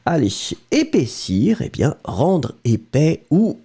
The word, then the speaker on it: épais: Épais, so masculine form, remember, E accent aigu, P-A-I-S. Final S not pronounced.